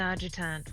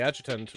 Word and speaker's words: adjutant: But the adjutant will render a verdict. I hate that I mispronounced adjutant. Oh, it's adjutant? Okay. Yeah, it's a soft A, not a hard A.